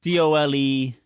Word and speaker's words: Dolezal: It's Dolezal, ZAL for international audiences.